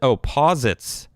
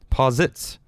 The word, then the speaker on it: posit: says po uh posit opposites opposites uh posit is pronounced possets posits yeah i was winging it